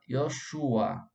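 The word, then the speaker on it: יהושע: A pronúncia é correta, Yoshua.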